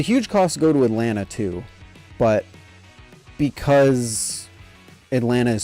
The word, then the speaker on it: Atlanta: You've been to Atlanta enough, you know not to pronounce any of the Ts. Atlanta. Atlanta.